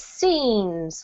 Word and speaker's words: scenes: a couple of times this one is scenes with a long e these things yes well